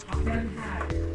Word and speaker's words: Den Haag: Den Haag.